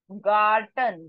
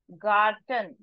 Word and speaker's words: Garten: please make a note g g sound so this is not Jordan This is gon Garten G sound Garten ha house ha how